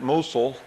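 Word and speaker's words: Mousehole: mous hole but they pronounce it musul and the only thing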